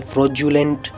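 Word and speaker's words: fraudulent: तो first example है schedule, दूसरा एग्जाम्पल है नोड्यूल, तीसरा एग्जाम्पल है फ्रोजुलेंट, चौथा एग्जाम्पल है फ्यूज्यूल।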